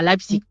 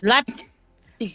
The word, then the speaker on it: Leipzig: Il y a Leipzig, donc le L-E. Le tu prononces le P là, le Leipzig. Leipzig, genau, c'est ça.